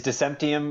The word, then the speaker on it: Decentium: Just like decentralized, and then it's the word decentralized turned into like an element, like Right.